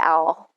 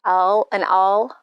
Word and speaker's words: awl: I mean, I always say owl, but awl.